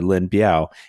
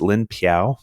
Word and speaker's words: Lin Biao: And it's also can be pronounced Lin Piao. So if I get it wrong or you've heard both, I'm talking about the same guy. So I think the P is like more traditional, whereas if you like go for the B, that's more like modern Chinese. Like the communists prefer the B and Taiwan prefers the P.